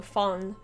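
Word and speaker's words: von: one just one thing vaughn is pronounced with an f sound so fun yeah it's i kind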